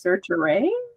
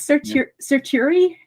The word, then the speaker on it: certiorari: cert, because this was certiorari. Lots of people pronounce it different ways. I think it's certiorari. Certiorari is how I pronounce it.